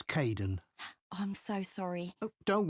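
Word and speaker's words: Kaeden: Hi Aiden. It's Kaden.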